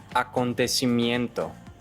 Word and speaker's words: acontecimiento: So, acontecimiento should not be acontecimiento, aconta. There's a schwa. Acontecimiento.